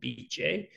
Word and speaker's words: Bice: The correct pronunciation is called BJ, and it stands for Beatrice. It's the endearing nickname for the woman's name, Beatrice in Italian.